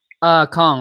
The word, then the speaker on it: Kong: Kong, like King Kong, Donkey Kong, K-O-N-G. King Khang.